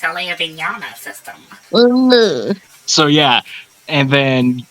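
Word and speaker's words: Alaya-Vijñāna: I can't even spell it, so... Oh, you got an Alea Vignana. Actually, it's Alea Vignana system.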